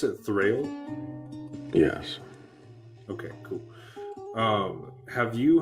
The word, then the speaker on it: Thrayle: So have you and do I pronounce it Thrayle?